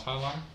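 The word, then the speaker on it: Hialeah: You could have just handed it to me and said, "Hey, it's pronounced High Line."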